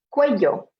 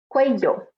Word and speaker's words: cuello: Onto neck, cuello, cuello, or cuello, or cuello. Okay, so again, more variation in the pronunciation.